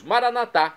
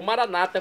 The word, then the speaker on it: maranatá: E agora eu clamo do aramaico dialeto de Jesus, maranatá, como dizemos nós católicos, ou maranata, como dizem nossos irmãos separados das comunidades evangélicas ou protestantes. Não importa a pronúncia, o significado é o mesmo.